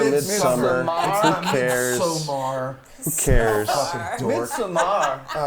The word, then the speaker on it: Midsommar: You know, but Midsummer was and don't pronounce it like a fucking douchebag. Midsummer. Midsummer. Who cares? Midsommar.